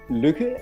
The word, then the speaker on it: lykke: I told you, The Little Book of Lik. Lik? What means this word? It's also in Danish? It's another Danish word. That is pronounced lykke, and it means happiness.